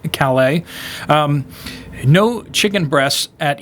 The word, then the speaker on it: Calais: hannah ford in kalai calais maine it's a french name so i'll pronounce it like uh over in france calais um no chicken breasts